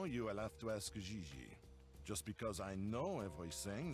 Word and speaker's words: JJ Ling: this one on fiancee you pronounce g like j and j like g she may very well be jj in america but in france she is gigi from what i hear